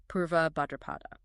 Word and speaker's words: Purva Bhadrapada: the deep earthly manifestation of the 25th Nakshatra Purva Bhadrapada and just to clarify that's pronounced PR BHA a drupada Exactly, and when